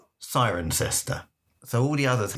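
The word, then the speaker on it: Cirencester: Sirenester is spelled Siren Cester, but they say Siren Cester, not Sirena.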